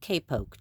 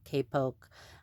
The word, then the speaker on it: kapok: And I was going to read you a story called The Great Kapok Tree. And now this word is pronounced differently. Some people pronounce it kapok or kapok. I say kapok tree.